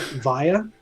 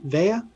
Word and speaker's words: Vaea: But we pronounce it Vaea. Yeah. In conversations with BioWare, they have pronounced it Vaea.